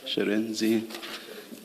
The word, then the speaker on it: Shirindzi: Sherenzi. Thank you. Can you please say it again so that we get it right? Sherenzi? Sherenzi. Sherenzi, Chairperson, Sherenzi. She, yes. She, Renzi. She, Re, and then Nzi.